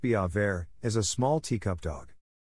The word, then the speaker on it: Biewer Terrier: what's a viewer terrier dog a viewer terrier pronounced be avair is a small teacup